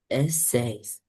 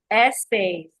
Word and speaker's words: essays: And this word, I want you to pronounce this word for me. Essayes. Essays.